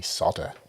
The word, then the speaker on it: solder: wish me luck everyone why do americans say soda why don't get it mean it's not literally there is an l in it i know that's like